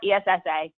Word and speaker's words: ESSA: This is pronounced ESSA, or ESSA, depends on what you feel like.